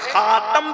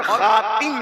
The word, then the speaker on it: خاتم: اسی لیے حدیث میں جو آیا ہے خاتم بھی پڑھا جاتا ہے اور خاتم بھی پڑھا جاتا ہے، دونوں تلفظ ہے، خاتم بھی، انا خاتم